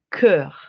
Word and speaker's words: cœur: Cœur. ¿Listo? Más como entre una E y una U. Como es un sonido que no existe en español. ¿Listo? Cœur.